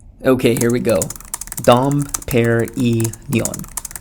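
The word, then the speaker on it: Dom Pérignon: to help me out here how do you pronounce Dom P okay here we go Dom pair e Neon Dom Perignon there hopefully I got that right or I'm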